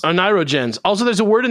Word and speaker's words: oneirogens: I haven't had much or any luck with, how do you say, ornithorigins? You've been saying it all day. Oneirogens. Oneirogens.